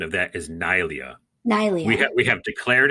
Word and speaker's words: Neillia: like I had translated from our from online pronunciation. So it's Chinese Neillia. We're saying right now the correct pronunciation of that is Neillia. Neillia.